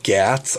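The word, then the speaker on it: Ghats: to the western uh gats i think is how you say g-h-a-t-s in india and trying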